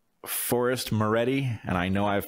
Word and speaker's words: Maready: Forrest Maready, and I know I've pronounced it correctly.